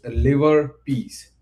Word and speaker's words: LIVERPS: These arc adhere to a set of strength ordering rule that we affectionately refers to as liverbs pronounced liver piece an acronym that captures